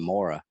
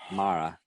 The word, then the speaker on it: Mara: A friend of mine had to tell me how to pronounce I was going Mora. Like O-R-A. He's like, no, it's Mara.